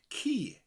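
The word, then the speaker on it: ci: mutated form of dog, ki. Ki. So let's look at those two words. Cor, dwarf, and ki, dog, spelled C-I, but sounds like the English word key for putting in your lock.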